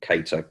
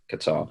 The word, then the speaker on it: Kattar: absolutely nothing you don't even know how to pronounce people's names that don't count because you call cater qatar maybe i'm doing them right i know we've